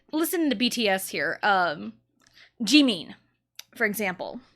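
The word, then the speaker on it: Jimin: sound but like no it's an e sound so it's Gan not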